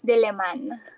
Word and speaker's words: Diliman: How do you pronounce the the name of your university? Yeah, it's University of the Philippines Diman.